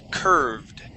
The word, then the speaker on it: curved: let's practice that word curved all right curv curved okay that has an ed ending and that Ed is going to uh sound like a d curved curved okay good